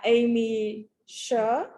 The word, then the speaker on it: Aimee Sher: This is the Nicole shawl, and it's designed by Aimee Sher.